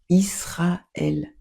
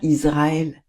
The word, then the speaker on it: Israël: On dit Israël, on dit pas Israël.